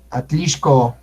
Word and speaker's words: Atlixco: Atlixco, exacto. Siempre que vean X, es sh.